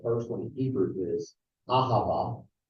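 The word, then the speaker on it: אהבה: The first one in Hebrew is ahava. Say ahava. Ahava. Not ahava. Ahava. No. Ahava. All 3 syllables are surest.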